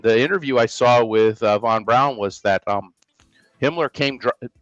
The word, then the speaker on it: von Braun: this over um um Von Brown and you pronounce it brown that's the way he pronounced it just like we say brown he would say brown